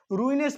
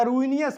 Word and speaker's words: ruinous: तो या तो आप इसे रूइनस पढ़िए या रूइनियस पढ़िए, रूइनियस कुछ भी पढ़ सकते हैं, दोनों प्रोनाउंसिएशन इसका सही है, ठीक है।